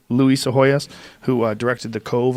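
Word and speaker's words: Psihoyos: Seahoyus right? Luis Se Hoyas who uh directed the Cove on and we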